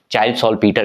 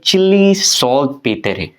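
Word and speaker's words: Chile saltpetre: क्या प्रोनाउंसिएशन, हम लोग जो इंडियंस हैं वो चाइल्ड सॉल्ट पीटर कह देंगे, लेकिन चिली सॉल्ट पेट्रे, तो ये एक नाम याद रखना।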